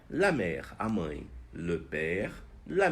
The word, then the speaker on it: mère: A mãe, la mère. A mãe, la mère. Então, le père, o pai, la mère, a mãe. Engraçado porque em francês, mar e mãe se pronunciam da mesma maneira.